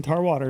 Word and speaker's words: Tarwater: It gets butchered a lot, believe it or not. Really? I'm like just like it sounds.